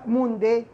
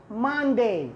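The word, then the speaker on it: Monday: يوم الاثنين ليس موندي، ما ما ماندي ماندي.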